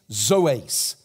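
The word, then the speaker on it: ζωῆς: In the Greek, the word is literally phos tais zoes. It's lyrical. It rhymes. Phos, photograph. Zoes, zoology, life.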